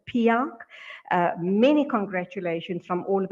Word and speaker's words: PIARC: He has been nominated as the president of the World Road Association, PIARC, pronounced PIARC.